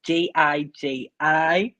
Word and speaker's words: Gigi: That's Jiji. A lot of people put G, but they spelt it that way. So usually, if you're gonna pronounce it, it's hee, but it's Gigi actually.